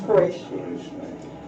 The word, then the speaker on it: Quraysh: All right, so the Gerasa are also still there, black, and the Banu Kanana, also called Quraysh, pronounced Quraysh, means sharp.